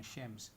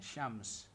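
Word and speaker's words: شمس: Minsan pinupronounce sila ng shems. Shems. Kasi parang yung parang Pero pag nilagyan natin ng fatha doon, yan yung pinaka transliteration. Shams.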